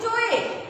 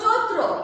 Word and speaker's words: চৈত্র: তাহলে কি উচ্চারণটা কি হবে? চয়ে। এটা কিন্তু হবে না, হবে হলো চৈত্র।